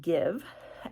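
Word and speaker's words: GXVE: I knew it's called give now it's spelled funny but it's pronounced give and so we're going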